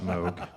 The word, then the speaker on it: Moog: Oo, it is pronounced Moog.